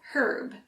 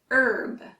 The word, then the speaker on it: herb: the British actually use herb but for Americans that H is silent herb let's try it together